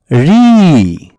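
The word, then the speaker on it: ঋ: এটা হলো রি। রি। এর উচ্চারণ হচ্ছে রি।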